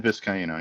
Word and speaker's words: Vizcaino: is the new kicker that's come in, Christian Vizcaino, I believe it's pronounced. Yes, Tristan Vizcaino, yep.